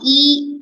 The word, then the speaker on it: 一: Then the next one is about the word "e" and "bu." So these two words, how do you mark the tone for them? Depend by the word put after it.